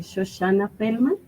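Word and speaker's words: Shoshana Felman: Shoshana Feldman.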